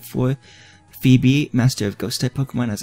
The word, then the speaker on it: Phoebe: so this is a Phoebe I wait for Phoebe I remember my original pokémon will be walking